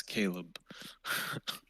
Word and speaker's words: Caleb: you're watching the recording hi there caleb is that the correct way to say your name if you're speaking cannot hear you oh is that better yeah yeah i can hear you now oh okay perfect um yeah it's caleb okay great yeah yeah